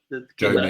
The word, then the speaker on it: Joma: Is it Joma? Is that how you pronounce it? Joma, yeah.